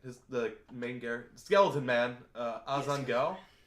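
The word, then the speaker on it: Ainz Ooal Gown: The main character, Skeleton Man, Azan Gal. Ainz Al Ghul.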